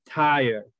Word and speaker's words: tired: Okay, I am tired. Okay, tired. Esa R se pronuncia como Y.